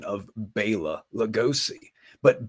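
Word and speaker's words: Bela: about my pronunciation of Baya legosi but Baya is the proper pronunciation of the man's name not Bella it's Baya but people have gotten used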